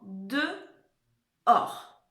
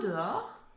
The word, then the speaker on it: dehors: Et or, c'est là où on va trouver le H qu'on n'entend pas, d'accord?